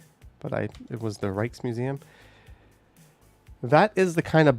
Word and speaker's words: Rijksmuseum: I was not aware of how to pronounce J's at that point, but it was the Rijksmuseum.